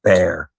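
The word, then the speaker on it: Bexar: um, the tactile knives bear bx a r bear but pronounced bear is the one that I would look into.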